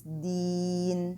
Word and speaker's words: دين: Here I have to prolong this ya in this word, a prolongation for stopping. So it's deen.